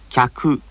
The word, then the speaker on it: 客: きゃ、きゃ、客。 There were only two beats there, representing two syllables, not three.